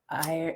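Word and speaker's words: aerie: - It's the airy. - Bring in more light. - Irie, airy. - Yeah. How do you pronounce an eagle's nest, airy?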